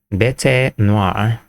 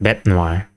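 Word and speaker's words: bête noire: ain't never heard before, bet noir. Oh, just bet noir. You don't pronounce the E.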